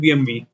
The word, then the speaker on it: BMW: Michael okay BMV BMW is how the English pronounce it it's a German company and they call it BMV Dell was Michael Dell